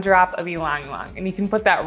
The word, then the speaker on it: ylang-ylang: Fun fact, Katie and I used to pronounce this oil Ylang-Ylang, and then we looked it up and the lady pronounced it Ylang-Ylang.